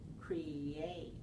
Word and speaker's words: create: with the second syllable I notice that when you're saying you're saying create create where I'm saying create create so I have a little yep and I would like to give it to you here's a little yeah just put it in between the two syllables to connect them smoothly create create yes so